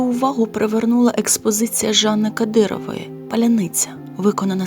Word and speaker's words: паляниця: хліб випечений у печі після початку війни слово Поляниця стало символом оскільки російські окупанти не могли вимовити його правильно це слово стало шибулетом за яким можна відрізнити друга від ворога робоча Ксенії мілицька